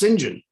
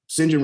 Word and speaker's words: St John: how to pronounce these words that it was pronounced sinjin shinjin rivers and shinjin rivers wants to define her